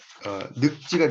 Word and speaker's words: 늙지: 리을이 이제 발음이 되는데 이 1번은 늙지가 아니라 늙지가 된다. 늙지. 이렇게 발음을 한다는 걸 보시면 됩니다.